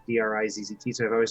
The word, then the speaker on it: Drizzt: But just like people used to always say Drizzt, like Drizzit, but there is no second I. It's just Drizzt.